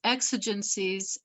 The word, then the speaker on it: exigencies: much really quickly bob you're right it's exigencies and exigency x is the first syllable pronounced and take it away